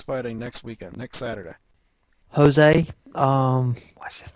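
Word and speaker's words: José: player um he's a Jose is actually how they pronounce it in Brazil stop messing with me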